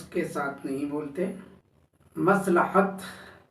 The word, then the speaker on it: مصلحت: کے ساتھ نہیں بولتے۔ مصلحت، مس تو صحیح ہے لیکن لحت پر آ کر تلفظ بگڑ جاتا ہے۔ یہ سمجھ لیں، یہ میم صاد لام بری ہے تے لام پر زبر ہے، مصلحت۔ اس کے معنی عام